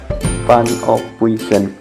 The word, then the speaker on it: Van Ophuijsen: Penulisannya memang Ophuijsen, tapi J di sini dibaca Y, jadi kita baca Van Ophuijsen.